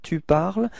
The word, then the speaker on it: tu parles: parle and tu parles, even if there is a small difference in the writing because you've got this final S for tu, it is the same pronunciation. So it's je parle and tu parles.